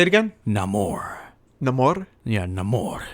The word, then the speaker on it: Namor: but before we wrap it up it's not Neymar it's not more is that how they're pronouncing it yes none more say it again no more no more yeah no more I like that